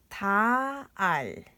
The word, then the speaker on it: 달: 리을 is we usually pronounce is L. So this is 달, 달.